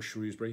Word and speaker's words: Shrewsbury: Shrewsbury Prison, which is up in Shrewsbury in Shropshire, or Shrewsbury, depending on how you say it.